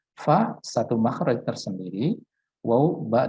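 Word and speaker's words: ف: Kesalahan yang sering terjadi adalah dengan merapatkan kedua bibir, ya, sehingga bunyinya adalah pa, ya, pa. Nah, itu adalah sebuah kesalahan.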